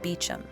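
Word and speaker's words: Beauchamp: in those days in the center of the beum chapel though it's spelled bamp they pronounce it beum lies the Gilded bronze Effigy of Richard beum The Inquisitor of Jon of Arc lastly in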